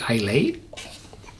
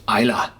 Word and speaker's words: Islay: The typical English-speaking person would say Islay, just from the spelling. But the natives of Islay, the Iliach, they pronounce it Islay.